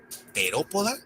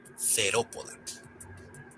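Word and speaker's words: Theropoda: ¿Notaron la TH? Bueno, en este caso se pronuncia como una T marcada y no como una T suave con aspiración, que es como se pronunciaría en inglés, casi como una D. No, acá es una T. Por ejemplo, terópoda y no cerópoda.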